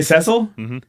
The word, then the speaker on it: Cecil: version is voice acted they do say oh they say cecil that's good because i